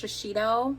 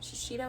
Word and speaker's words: Shiseido: I think it's Shiseido. Shiseido, I think is how you say it.